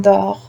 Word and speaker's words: dort: Le T here, it's silent in dort.